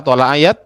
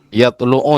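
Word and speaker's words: يتلو: Nah, tadi Pak Azmi bacanya apa? Thayat. Yang benar adalah yatlu ya.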